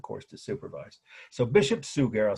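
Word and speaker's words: Suger: his name was Bishop sugar almost like the word sugar but spelled s u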